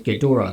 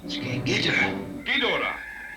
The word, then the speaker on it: Ghidorah: of his debut movie his name was standardized as gadora thereafter which has been pronounced several different ways in the dubs recorded since K Gora Gora kingra King gadora kadora King Gora King gadora yeah a lot of people